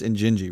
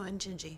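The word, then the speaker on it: Injinji: And is the genesis of the It's Ini, right? Am I saying it right? Or is it Janji? No. Janji is a different brand. No. Injingi. Injingi. Okay.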